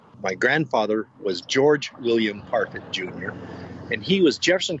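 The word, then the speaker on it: Parfet: And we've always said it was Parfit like carpet. My grandfather was George William Parfit, Jr., and he was Jefferson County Commissioner in 1939.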